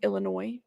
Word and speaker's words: Illinois: I've said Illinois before on a video it's Illinois sorry and y'all corrected me I laugh because my pronunciation of the name in places could use